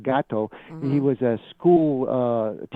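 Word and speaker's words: Gatto: gato like the uh or gato I guess but it's pronounced gato he was a school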